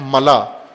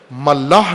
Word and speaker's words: ملا: کو وضاحت کی ہے، ملا، یہاں بھی کی ہے، ملا، ملاح نہیں ہے، غلط تلفظ کرتے ہیں بعض، ملا، میم لام الف حمزہ، ملا حمزہ کے ساتھ، خلا جس طرح کہتے